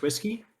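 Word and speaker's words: oosquai: reader no it's actually it's pronounced it's pronounced whiskey is pronounced whiskey yes yep the uh the audiobook readers will uh be confused by that uh but if you're lying because Michael Kramer and uh and Kate reading pronounce it uh however it's literally spelled o-o-s-q-a-i yep but Robert Jordan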